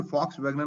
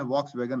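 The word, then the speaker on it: Volkswagen: ये वी को F pronounce किया जाता है जर्मन लैंग्वेज में, तो जोसेफ फुन मेरिंग, इसीलिए फॉक्स वैगन बोलते हैं, वॉक्स वैगन नहीं बोलते।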